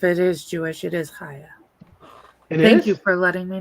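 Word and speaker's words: Chaya: No, I think it I saw I forget who, someone interviewed her, and she said it's Haya is how you pronounce.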